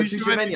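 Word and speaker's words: Tchouaméni: Tushimeni, fam. What are you doing? Oh, Tushimeni. I thought it was Tamagotchi. Sorry, my bad. Oh my days. But nah, see all this Tushimeni, whatever.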